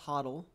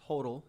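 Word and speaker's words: HODL: you hear the term Hodel and it's not pronounced Hottel it's pronounced Hodel you'd say all the same letters the same way you're just flipping them around if you see someone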